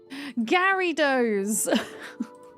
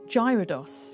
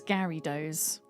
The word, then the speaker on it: Gyarados: Garyos, that's how you pronounce it apparently. Carrie, what does Magikarp grow up into? So, I call I pronounce the Pokemon Gyarados. I pronounce it Gyro because I think that just sounds way cooler than Gyarados.